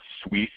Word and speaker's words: Suisse: SolarCity's investors and business partners include Google, Goldman Sachs, Honda, Credit, I think it's pronounced Suisse, looks like that.